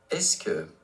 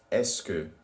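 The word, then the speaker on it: est-ce que: the ES me es looks a little formable and it may not be pronounced exactly how youd expect have a listen to it below and try to repeat it to yourself est que est que est que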